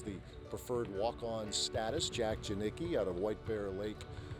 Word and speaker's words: Janicki: It has the preferred walk-on status, Jack Janicki out of White Bear Lake, Minnesota. Just glad I got the name pronounced right, Janicki, because my name gets screwed up all the time, and yours does too.